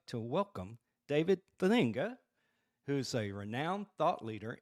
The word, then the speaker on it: Thedinga: You got it, man. It's Thedinga. You said it exactly the way that it is.